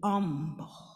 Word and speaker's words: humble: clearly and intently so when she says humble she doesn't pronounce the h she says I want you to be humble and we all roll